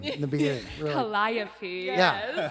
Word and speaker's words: Calliope: And after reading, I had trouble pronouncing that name in the beginning. Really. Calliope. Yeah, Calliope.